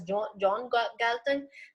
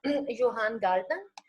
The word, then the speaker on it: Johan Galtung: are Norwegians, I mean, if maybe an American would pronounce this name as John Galtung, but since the scholar is Norwegian, in Norwegian language, his name is pronounced as Johan Galtung.